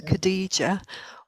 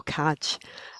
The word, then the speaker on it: Khadijah: help people with the pronunciation of my name as well which is either khadijah or caj um i am from